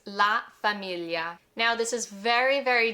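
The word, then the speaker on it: famiglia: biggest biggest tricks because this sound that gl doesn't exist in English.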